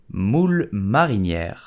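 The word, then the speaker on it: moules marinières: style muscle but in French we will say mul Mariner nier Mariner did you know that you can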